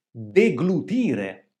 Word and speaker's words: deglutire: Perché pronunciamo il nesso consonantico come due suoni, gl, inglese, deglutire? Perché è seguito da una vocale diversa dalla I, dalla O, dalla U, dalla A, dalla E. Quindi quando le consonanti GL sono seguite da una vocale diversa da I, mantengono il loro suono distinto, inglese.